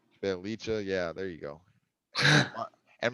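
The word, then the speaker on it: Bjelica: Bielicha. Belicha, yeah, there you go.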